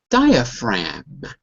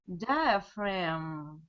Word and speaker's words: diaphragm: A G is always silent when it's in front of an N or an M. So you don't even have to say the G. So one more time. Diaphragm. Diaphragm.